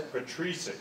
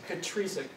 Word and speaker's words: Petricek: So I took this from there, and they also, like Tomas Petricek, I don't know how to say his name, but... It's Petricek. Petricek. Tomas Petricek.